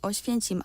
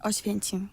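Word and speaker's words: Oświęcim: 어시펜침. 네. 여기를 이제 독일식으로 발음한 게 아우슈비츠예요. 맞습니다.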